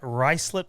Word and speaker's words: Ruislip: West Des Moines, Iowa, and Ruislip, England, which is not the way that looks like it's spelled.